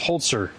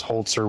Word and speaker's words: Holzer: Let's talk about Hans Holtzer. Honer. Holer. So I It's read as hoser, but I guess it's pronounced holtzer. Holtzer, like with a t.